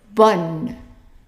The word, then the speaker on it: bonne: So when you have O-N-N-E, it's gonna be pronounced like the word in English, on.